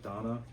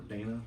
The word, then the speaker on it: Dana: This is for Ys 8, the Lacrimosa of Dana, or Dana, however you want to pronounce it.